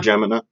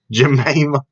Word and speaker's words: Jemima: Well, I'm saying people cancel cultured Aunt Jemima or Jemina. I just messed it up. I'm sorry. Jemima.